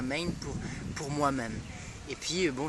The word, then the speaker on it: MEIN: Main c'est ça, je vais participer à Main pour moi-même. Et puis bon ça fait aussi on peut le prononcer comme une main, c'est sa propre main voilà, ça nous appartient.